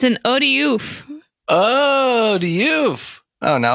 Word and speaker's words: Otyugh: One of the long-standing mysteries of D&D is how do you pronounce this word? Otyug. I don't know, dude. Odiug. I like Otyugh. It's like an alley-oop, but it's like the opposite of an alley-oop.